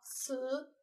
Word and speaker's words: 辞: 我们来看一下会写的生字，这个字读作辞，辞职的辞，也是告辞的辞。